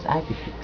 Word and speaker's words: IPFIX: protocol called ipfix or IP flow information expert pronounce as ipix at the same technical